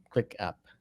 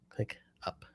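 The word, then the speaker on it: ClickUp: yeah we use a service called clip back Click app click up I should say it properly that uh yeah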